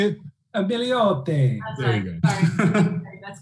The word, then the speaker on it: Milioti: Milioti.